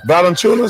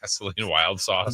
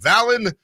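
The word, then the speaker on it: Valančiūnas: Oh, Charles Barkley pronouncing Valanciunas is. What did we say? Vaseline wild sauce.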